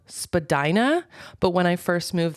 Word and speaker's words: Spadina: Toronto and it's called Spadina but when I first moved there I was like there's no way it's pronounced Spadina that sounds like vagina um so I would